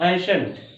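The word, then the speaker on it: ancient: जैसे एग्जांपल यहाँ पर देखें, एंसेंट, ठीक है, CIENT, तो इसका क्या हो जाएगा, शंट, एसेंट, एंशंट, क्लियर।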